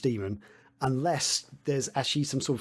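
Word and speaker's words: daemon: over time um but it's technically it's meant to be pronounced demon unless there's actually some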